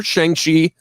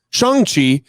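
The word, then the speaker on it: Shang-Chi: seen a trailer for shang shi shang chi in the legend of the ten rings i've learned that is the correct pronunciation of the character's name shanxi um this new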